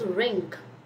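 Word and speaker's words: wring: Then you have this ring. Ring is how you pronounce it.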